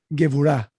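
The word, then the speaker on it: גבורה: There's something called gevurah in Hebrew, which is like your inner strength. How do you say it? Gevurah.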